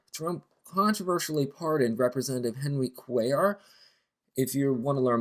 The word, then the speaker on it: Cuellar: Lastly, Trump controversially pardoned Representative Henry Quayar. If you want to learn more about this, his name is spelled C U L L A R.